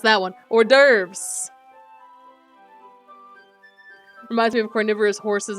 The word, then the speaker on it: hors d'oeuvres: there's like the don't pronounce the h and S oh okay I was trying to pronounce that one hors d'oeuvres reminds me of carnivorous